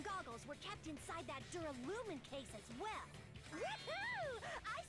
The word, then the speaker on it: duralumin: Inside the duralumin case Byakuya had with him during the party. Duralumin. I kept saying trying duralumium. I kept pronouncing it completely wrong last stream.